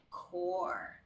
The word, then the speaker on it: corps: letter B okay so this word has of course a silent P ands so we say or we pronounce it as core okay he so that's